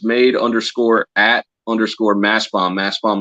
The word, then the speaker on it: Mastbaum: Mass Bomb is spelled MASTBAUM.